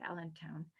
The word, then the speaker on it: allantoin: I don't know how to say the British pronounce it, but in America we say allantoin.